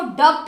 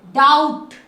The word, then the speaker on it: doubt: अब ये देखिए, आप इसको डब्ट नहीं बोलोगे, डाउट, OU आ गया ना, आउट, डी को ड, OU को आउट, डाउट।